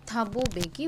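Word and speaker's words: Thabo Mbeki: থাবুবে বেকি ঠিক আছে এখানে এম টা কিন্তু সাইলেন্ট থাকবে দেন থাবু বেকি ওয়াজ সর্ন ফার্স্ট ডেপুটি প্রেসিডেন্ট সো হু ওয়াজ সর্ন ফার্স্ট ডেপুটি প্রেসিডেন্ট থাবু বেকি ওয়াজ সর্ন ফার্স্ট ডেপুটি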